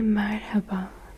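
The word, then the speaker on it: merhaba: Bonjour en turc c'est marhaba.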